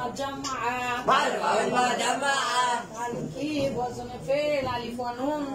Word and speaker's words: جمع: দেখেছি আজকে আমরা জানবো জামা প্রথম জামাউ প্রথমেই আমরা ভুল বলি সবাই বলি জুমা জুমা জুমা জুমা জুমা আসলে সকলেই আমরা ভুল বলি সাধারণত আসল উচ্চারণ হবে কি জামু জামু আর জুমা বললে